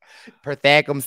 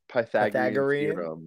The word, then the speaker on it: Pythagorean: that that is the pythagore series pythagam's Theory no that is you're missing some syllables okay it's fine what is the word though Pythagorean oh Pythagorean theorem Pythagorean